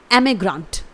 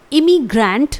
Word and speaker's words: emigrant: तो इसके लिए वन वर्ड है एमिग्रांट। स्पेलिंग है EMIGRANT। इट इज एमिग्रांट। इसे आपको इमिग्रेंट प्रोनाउंस नहीं करना है, ये गलत प्रोनाउंसिएशन हो जाएगा। इसे आपको सिंपली बोलना है एमिग्रांट।